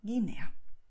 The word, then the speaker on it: Guinea: And in this combination GUE, GUI, the letter U is written, but it's not spoken, okay? So you don't have this sound.